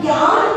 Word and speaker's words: ज्ञान: अपन ज्ञान बोलते, गुजराती लोग ज्ञान बोलते, GYAN, ये अपनी ज्ञान की स्पेलिंग होती है। गुजराती लोग अगर लिखेंगे तो GNAN, ज्ञान लिखेंगे।